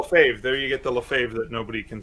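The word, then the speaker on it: Lefebvre: there you go fave there you get the Lafave that nobody can spell it's uh for those of you on audio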